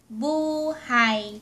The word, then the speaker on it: buhay: Our last Tagalog homograph word for tonight is buhay. Buuu-hay (Buhay) Buhay means life. And if you pronounced the word buhay ---- buhay means alive. Buhay (Buuu-hay) and buhay.